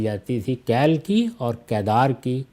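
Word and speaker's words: قیدار: تھی، کیل کی اور کیدار کی۔ کیل یا کدار یا کیدار دونوں تلفظ رائج ہیں، تو یہ گویا ضرب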